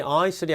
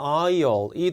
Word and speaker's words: aisle: aisle은 여러분들 S가 무음이기 때문에 발음이 aisle이 아니라 aisle이 되는 겁니다.